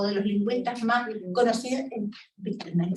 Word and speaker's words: Wittgenstein: los lingüistas más conocidos, Wittgenstein, ¿se pronuncia así? Wittgenstein, sí, ya.